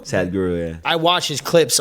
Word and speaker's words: Sadhguru: I saw um at Tomorrowland you talked to um excuse me if I pronounce the name wrong. Sa- Sadhguru? Sadhguru, yeah.